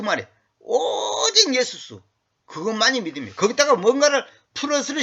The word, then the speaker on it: Jesus: 다시 말하면 just 예수스. 응? 영어로는 just Jesus 그러잖아. Jesus 그건 발음이 잘못된 거고 그 제우스하고 동일하게 하기 위한 그 마귀의 그 전략입니다.